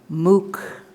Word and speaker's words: MOOC: i wrote down is m-o-o-c how do you pronounce it mook oh you got to learn this mark this